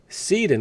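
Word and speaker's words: Cede: Essentially, the one way everyone owns stock is, number one, and this is the DTCC's fictitious thing, number one, Seed & Co., and that's spelled C-E-D-E, by the way.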